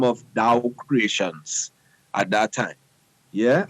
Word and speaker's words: DAWW: First thing, DAWW is pronounced DOW.